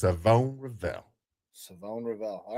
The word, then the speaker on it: Siobhan: But he actually came out and said it is Savone Rivell. Savone Rivell. All right. Yes, Savone Rivell. So the SH, there ain't no SH knows. It's Savone Rivell.